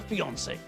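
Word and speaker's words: fiancé: who's engaged is a fiancee yes rather strangely there's no difference in pronunciation only in spelling so when people become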